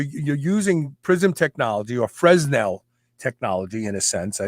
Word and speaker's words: Fresnel: prisms they were called fresnel um or fresnel i don't think the s is i think the s is silent so what you're doing